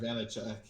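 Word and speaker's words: Vaněček: Yeah, and I mean, the other thing, I know, the other thing I'll say about Vitek Vanek, I think that's how you pronounce that guy's name. Vitek Vanacek.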